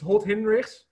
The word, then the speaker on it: Holthinrichs: I thought a lot about it before I thought of naming my brand after it, but it's Holthinrichs.